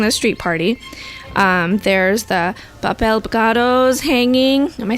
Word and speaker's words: papel picado: There's the papel picados hanging. Am I saying it right? Papel picado.